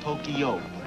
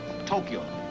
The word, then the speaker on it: Tokyo: it is not pronounced Tokyo it is pronounced Tokyo two syllables Tokyo Tokyo Tokyo thank